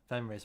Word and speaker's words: Venray: Venray's massive as well. There are Venray rhymes with Stingrays.